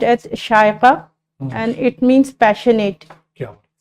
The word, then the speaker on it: Shaiqua: सर, इट is pronounced as शायका एंड it means passionate.